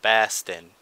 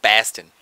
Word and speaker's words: Boston: takes place in Boston Bast say it right Baston Baston thank you Bast you could you at least try to do an accent when you say it it's going to take place in Baston come on give it